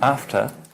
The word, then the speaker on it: after: How is after spelled phonetically? After. F. T. After. And the last syllable? After. Schwa. Yes. Does it have an R in it? No. Not in English. After. In American, No. Yeah. would have a little R here, Yeah. a little one here. After. Okay? But in English, no.